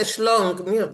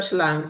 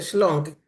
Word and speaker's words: schlong: That's a schlong, nicht a schlang, that's a schlong. Oh. It's pronounced differently.